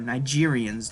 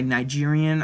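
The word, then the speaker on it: Nigerien: water to Africans, or Nigerians to be more precise. When I say Nigerian, I mean the one spelled with an E, not an A.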